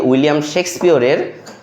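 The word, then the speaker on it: William Shakespeare: আজকে যেহেতু 23শে April উইলিয়াম শেক্সপিয়ারের। অর্থাৎ আমরা উচ্চারণ যখন করব উইলিয়াম শেক্সপিয়র। হ্যা এইভাবে একটু জোর দিয়ে উচ্চারণ করব।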